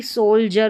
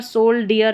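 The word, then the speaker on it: soldier: डी आई को हम ज पढ़ रहे हैं। जैसे कि सोल जर में पढ़ रहे हैं। सोल और जर। डी आई दे रखा है। इसको ज पढ़ा जा रहा है। इ आर को अर। तो यहां पर सोल डियर नहीं पढ़ते हैं। सोल्जर तो यहां पर याद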